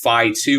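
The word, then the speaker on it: Phi-2: past about a Microsoft model called F2 which is spelled phi2 certainly the mistal models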